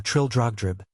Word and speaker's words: Trildrogdrib: It contained a warrant for conducting me and my retinue to Traldragdub or Trildrogdrib, for it is pronounced both ways as near as I can remember, by a party of 10 horse.